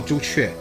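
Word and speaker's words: 朱雀: Oh, Zhu Chue.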